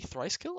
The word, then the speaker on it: Thr1cekill: their Community today I'm joined by AKA thriskill I didn't actually ask you is that the correct way to pronounce it yes awesome awesome uh this month's